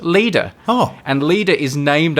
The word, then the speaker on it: Leda: This moon is called Leda. That's spelled Leda.